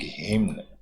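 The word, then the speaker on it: hymn: the chanting of वैदिक हिम्न, chanting यानी भजन कीर्तन, हिम का मतलब होता है भजन करना, एन साइलेंट रहता है, तो वैदिक भजन किए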